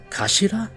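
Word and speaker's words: 頭: It's written as head in Japanese, but it's pronounced as Kashida, I believe. Kashira.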